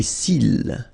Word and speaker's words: cils: Les cils. Final S not pronounced.